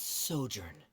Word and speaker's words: sojourn: Ah, that's sojourn. It means to stay for a while.